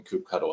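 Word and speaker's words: kubectl: prompt and just run cou cuddle there Cupido get nodes looks like I've chosen coop cuddle is the right way to say it so now I see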